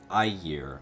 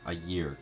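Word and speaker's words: Ægir: I year. Oh, there's no there's no G. It's uh it's I year. Okay. Ayear.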